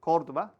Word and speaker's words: Córdoba: And later in the month, I will be in Córdoba, that's how you pronounce it, Córdoba, Spain, again with George, my colleague George, to teach another Qatar Airways cadet group.